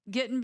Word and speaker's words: Getting: It's pronounced like a southerner in the United States. Getting, Gettin, no G on the end.